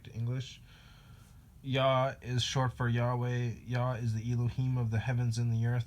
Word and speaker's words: Yahweh: yah is short for Yahweh yah is the Elohim of the heavens and the earth the first and the last and the only another way you could pronounce Yahweh would be yaver yah is a very